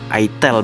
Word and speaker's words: itel: Itel bacanya, bukan Itil guys.